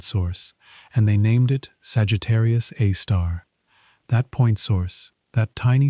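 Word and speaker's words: Sagittarius A*: It is called Sagittarius A star often written as Sagittarius A with an asterisk and pronounced Sagittarius Aar.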